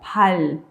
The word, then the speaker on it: 발: Si va a ser sonido L, ¿cómo va a sonar? Como 발.